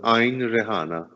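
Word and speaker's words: Għajn Riħana: because it's called the ein rihanna how do you pronounce it h yeah that's cu g-h-a-a-j-n and it's the gh is silent yes like imagine that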